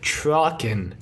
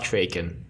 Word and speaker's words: Traken: Because this week we watched Keeper of Traken. Not Traken, Traken.